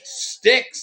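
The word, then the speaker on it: Styx: Gail says Oh bitsy has the correct pronunciation it is sticks the band six babe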